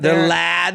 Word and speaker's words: LAD: um lad Bible group how do you say I always call them La I always thought they were out of la oh really it's lad like a British term for like a British guy L every time I've